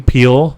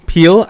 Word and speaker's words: Peele: Jordan how do you say his last name Peele Peele I Peele he was saying what were we